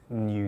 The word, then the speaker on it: NIU: listed chinese company called new technologies so that's spelled niu but pronounced new and that's a company